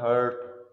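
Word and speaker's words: heart: हार्ट, एक होता है हर्ट, तकलीफ देना, HURT। एक होता है हार्ट, आर साइलेंट है, दिल।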